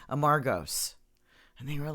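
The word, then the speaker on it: Amorgos: Well, I would say Amargos, and they were like, "Where?" I'm like, "Amargos Island." They're like, "Oh, Amargos." I'm like, oh, "Okay." You put the wrong emphasis. So on the wrong Amargos syllable.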